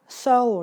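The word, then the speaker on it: sew: ก็ ได้ นะ คะ อัน นี้ อ่าน ว่า So นะ ไม่ ใช่ อ่าน ว่า สิว นะ ลูก สิว ที่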